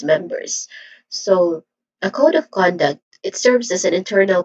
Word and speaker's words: code of conduct: Next is conduct, which is a two distinct sounds, two syllables. So next, first is con, which has a short O sound, and then duct. Again, duct, which also has a short sound. So the stressed syllable here is code and con. So we say it as code of conduct.